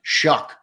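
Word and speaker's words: Shough: He says Tyler show is pronounced Shuck for some reason.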